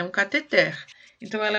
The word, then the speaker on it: cateter: Agora, tem uma palavra que vocês vão estranhar muito, porque a gente usa sempre pronuncia errado, inclusive na área da medicina e da enfermagem, eles também pronunciam errado. Mas vamos ver, como é que você lê a próxima palavra? Cateter? Isso, é cateter. A forma correta é cateter. Normalmente as pessoas usam um catéter, né?